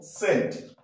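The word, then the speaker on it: scent: তাহলে সেটা সাইলেন্ট থাকবে যেমন সেন্ট এস সি ই এন টি সেন্ট আমি রেড কালার করে রেখেছি হ্যাঁ এস সি এন টি সেন্ট এখানে সি সাইলেন্ট ই এর সামনে রয়েছে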